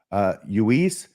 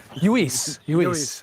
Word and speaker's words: Luis: So here's the first clip as he meets Luis. It's a double L. He pronounces it Luis, which is what I would have thought. He gets corrected. This actually is like their very first meeting. Hello, Luis. Luis.